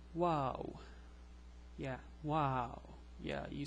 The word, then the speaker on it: و: This is the letter WaaW. It's pronounced like W in English.